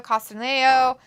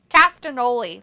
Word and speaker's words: Castagnoli: versus John Moxley, Claudio Castagnolo, however you say his name, Claudio. How do you say his last name? Castagnoli, that's it.